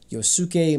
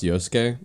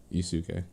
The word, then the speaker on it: Yosuke: Side note, the sound in like it's pronounced Yosuke. A lot of times, yeah, the UKE is like shortened, pronunciation wise. So yeah, like it's Yosuke. Yes, I know. You said Yusuke.